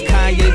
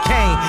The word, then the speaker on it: Kanye: Now all I need is y'all to pronounce my name as Kanye, but some of my plastic still say Kane.